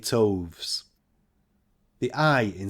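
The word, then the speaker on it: toves: how to pronounce slyy toes the i in slyy is long as in R and Toes is pronounced so as to rhyme with Groves again the first o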